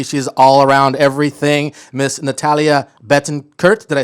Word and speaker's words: Natalia Betancurt: she's a beauty she's all around everything miss natalia bettencourt did i say that right that's perfectly pronounced good morning everyone good morning thank you